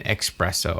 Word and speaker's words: espresso: makes me an espresso. I'm always like, okay, whatever. Espresso. There's no X in espresso.